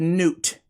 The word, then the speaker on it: Newt: I looked at how they said it, and they said Newt, like N-E-W-T, right?